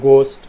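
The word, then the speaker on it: ghost: एच के पहले अगर जी भी आए तब भी साउंड एच की क्या होंगी, साइलेंट। गोस्ट, गज़ल, गैस्टली, ठीक है।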